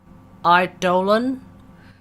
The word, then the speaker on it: Eidolon: Eidolon. The correct pronunciation. Jesus Christ. The correct pronunciation is Eidolon. So every time he says Eidolon, just remember Eidolon, as in Plains of Eidolon.